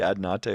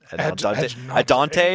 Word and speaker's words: Adnate: until just now that it's actually a Soldevi Ad Nate Yeah. callback. I didn't realize it's like a love letter to Soldavi Ad Nate or Adante or whatever that.